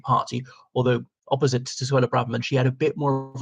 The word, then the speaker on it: Braverman: I think Braverman's the correct pronunciation.